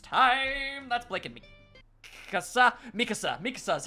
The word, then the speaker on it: Mikasa: Mikasa is how you pronounce her name.